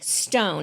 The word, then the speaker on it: Ston: One of the days we went over to Mali Stone. It's spelled like Ston, but it's pronounced Stone.